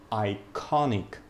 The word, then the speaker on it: iconic: Iconic. Iconic. Iconic. Iconic. Конечно же, iconic. На второй слог падает ударение.